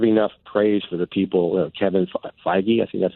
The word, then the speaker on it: Kevin Feige: I don't have enough praise for the people Kevin Feige I see that's how you pronounce his name and you know and the